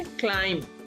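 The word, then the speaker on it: climb: इसको हम पढ़ेंगे क्लाइम, बी की आवाज नहीं आएगी.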